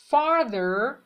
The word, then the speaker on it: farther: far به معنای دوره و حالت تفسیریش میشه farther، th وسطش ز نوک زبونی تلفظ میشه، یا further.